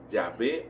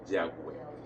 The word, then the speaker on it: Yahvé: Pero los expertos han puesto de acuerdo que la pronunciación más cercana es Yahvé o Yahweh.